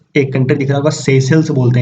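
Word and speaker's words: Seychelles: तो मडागास्कर के ऊपर चलेंगे तो ये एक कंट्री दिख रहा होगा, सेशल्स बोलते हैं इसे, सेशल्स। स्पेलिंग कुछ और लिखा हुआ है और इससे प्रोनाउंस सेशल्स करते हैं।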